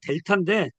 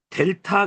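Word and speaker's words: δ: 요거를 우리가 델타 그래요. 델타. 델타. 델타 그러는데 요 디귿자가 보이죠? 그러니까 이거는 디귿자구나. 발음이. 이렇게 요거하고 요거하고 이거하고 이거 이렇게 매칭돼서 우리가 이번 주에 외워주시면 돼요.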